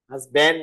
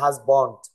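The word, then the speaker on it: husband: হাজব্যান্ড না, উচ্চারণটা হাজবন্ড বলো।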